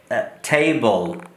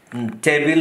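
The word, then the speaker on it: table: আমি যাচ্ছি এখন পেজ 29-এ, আর লং ভাওয়ালগুলো সাউন্ডগুলো যেমন এখানে টেবল, আমরা কিন্তু টেবিল উচ্চারণ করে থাকি, কিন্তু আসলে টেবল, টেবল।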